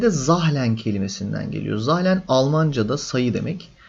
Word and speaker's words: Zahlen: de zahlen kelimesinden geliyor zahlen Almancada sayı demek z harfi de burada Almancadan ithal edilmiş Z zahlen Tabii bunun okunuşu böyle değil Zal öyle bir şey tuhaf bir şey Neyse burada Şuradaki sayılar